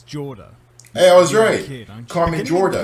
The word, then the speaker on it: Jorda: starting this i realized i pronounced her name wrong it's jorda hey i was ready